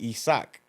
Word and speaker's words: Isaac: my my government name my name name is Isaac in Spanish you pronounce it isak okay so that's why